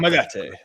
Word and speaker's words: Kamagate: Kamagate.